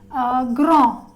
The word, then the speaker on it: grand: Especially S, T, D, X are such consonants which are never pronounced whenever they are coming in end of any word in French. I'm going to give you example like r. We stop here. That's it. Grand. We stop here.